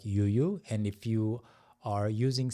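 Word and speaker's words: ㅠ: Yuyu. It's just the the reason that it's pronounced as yu is because the vowel is just u you know a ya y or yu e like that.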